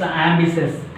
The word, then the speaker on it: ambitious: Next one, it's ambitious. We are pronouncing ambitious.